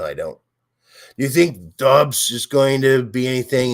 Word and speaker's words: Dobbs: Do you think Dobbs is going to be anything in Green Bay? Everyone wants to call him Doobs. I like to call him Doobs because I like to smoke Doobs. That's Dobbs. Stupid.